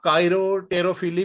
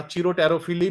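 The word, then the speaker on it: chiropterophily: तो कायरोटेरोफिली भी इसको प्रोनाउंस करते हैं या चीरोटेरोफिली भी इसको पढ़ते हैं, एज यू विश, जिस तरीके से आप मर्जी इसको प्रोनाउंस कर लें।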